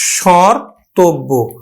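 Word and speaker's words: স্মর্তব্য: কি পড়ে প্রভাব পড়ে খুব সহজেই কিন্তু আমরা উচ্চারণ করতে পারলাম স্বর্তব্য স্বর ততব্য এখানে কিন্তু চন্দ্রবিন্দুটার একটু উচ্চারণ নিয়ে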